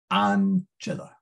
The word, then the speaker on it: ancilla: You skip the last syllable, so that's la. There's never any stress on the last syllable. In fact, I don't know how you'd stress a one syllable word. Maybe there is a way. But then you look at the second to last, chill, and you ask, is that vowel long? The answer is no. Then you put the third syllable from the end, so ah. So it is ancilla.